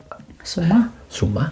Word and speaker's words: Zouma: One football player, Kurt Zouma, I think his name is pronounced. Zouma, a French player, he kicked his cat.